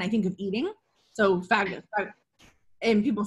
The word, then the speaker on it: phagocyte: So fagocytes. And people say it differently, but it's pronounced, because I did it on Google just to make sure. It's pronounced phagocyte, whatever, what have you.